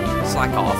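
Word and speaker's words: Slakoth: feels i have to wonder why s slag slack off yeah that's how it's pronounced constitutes hp recovery not only that it's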